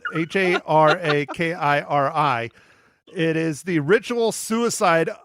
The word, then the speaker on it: harakiri: Yeah, but they pronounce it a lot differently. But anyhow, yeah, so it's pronounced seppuku, but Haraki, Harry Carey, as we call it, Harakiri.